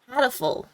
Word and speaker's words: Hatoful: I'm pronouncing it like Halo, but with a T. 91. Hatoful.